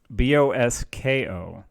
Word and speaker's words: Bosko: No, Bosco with a K. Bosko Novich. I forgot how it's spelled sometimes. No C. It's K. Bosko. He is a boss, but he's not the boss.